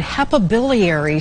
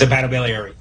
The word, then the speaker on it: hepatobiliary: is dr oscar k serrano a transplant and hepa biliary surgeon at hartford healthcare i hope i pronounced that right doctor it's a battle beliary thank you you are close all right so